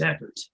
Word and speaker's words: Ekhardt: So Garrison, knowing Ekhardt, that's how it's pronounced, Ekhardt? Yeah, that's correct. My name is Ekhardt.